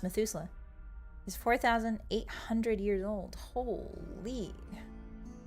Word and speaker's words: Methuselah: Oh, it's pronounced Methuselah.